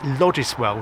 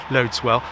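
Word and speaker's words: Loddiswell: called lwell if you're from Devon some people pronounce it liswell which is the way it's pronounced but it's yes it's pronounced loads well and all three intermediate stations exist and all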